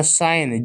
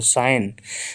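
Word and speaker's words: sign: जी एन ये लिखा साइन जी जी को नहीं पढ़ते जी साइलेंट होता है साइन साइन मतलब होता है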